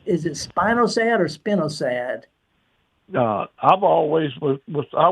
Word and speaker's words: spinosad: Spinosad is the way I was. It's a relatively. What's that? That's the way I was told to pronounce it, was spinosad.